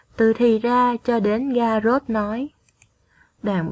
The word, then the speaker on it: Ga-vrốt: Trước khi đọc, các con lưu ý phát âm đúng một số tên nước ngoài. Các con đọc theo cô nhé. Garrot, Anjolra, Cuốc Phây Rắc.